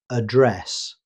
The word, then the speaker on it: address: As a noun, British English commonly uses address. The stress falls on the second syllable, address.